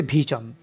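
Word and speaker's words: vision: বিজন, এই যে বিশন বলে আমরা বাংলায়, কিন্তু এটার সঠিক উচ্চারণ হচ্ছে বিজন, বিজন। ইংরেজি আইপি অনুযায়ী এটার সঠিক উচ্চারণ হচ্ছে ভিজন।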